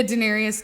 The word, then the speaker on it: Daenerys: Yeah, Daenerys Targaryen.